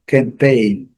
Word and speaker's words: campaign: Campaign, campaign, sílaba forte, essa sílaba aqui, cada segunda sílaba. Campaign.